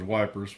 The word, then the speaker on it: Ypres: I think it may be pronounced differently, but I'm going to refer to it as Ypres, Y-P-R-E-S.